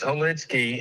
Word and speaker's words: Hollitzky: Hollitz Street. Is that how you say it? No, it's Hollitzky.